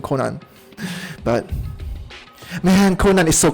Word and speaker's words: Conan: a very different vibe from conan or konan i guess i should say the japanese pronunciation konan but man conan is